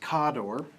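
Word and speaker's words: Khador: them and then there's kador officially pronounced cador and uh the this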